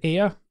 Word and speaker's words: Ayr: in scotland i'm from a town called air it's spelt ayr but it sounds like the word here we breathe um it's a